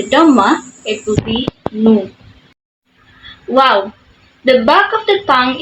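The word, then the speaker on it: واو: form a circular shape similar to the English W in water so wow when you add the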